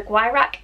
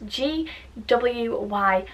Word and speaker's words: Gwyrach: are known as the Gwyrach. Now, I have no idea if I'm saying that right. It's spelled G-W-Y-R-A-C-H, so pronounce that as you will.